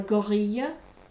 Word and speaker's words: gorille: Un gorille, if you remember from last year, ILLE is most often pronounced like a y sound, so gorille.